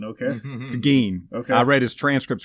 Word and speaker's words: Gein: Oh, Geen, okay. Geen. Okay. I read his transcripts from his interview, and he says in there, pronounce it like green without the R.